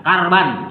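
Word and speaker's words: كَرْبًا: Kurban atau karban fa'ala yaf'ulu fa'lan karban yang benar fa'lan karban ya, ini namanya pakai wayan fa'il fa'ala yaf'ulu fa'lan ini masdar jadi dibacanya karban. Kalau pintar ilmu nahwu karban atau kurban bisa dicari ya.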